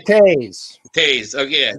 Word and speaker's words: Toews: Jonathan, what is it, Toews, however they pronounce it. Jonathan Toews.